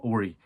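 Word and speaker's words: Horry: 적시해냈던 빅샷 밥, 로버트 오리. 홀이라고 스펠링하지만 오리라고 읽죠.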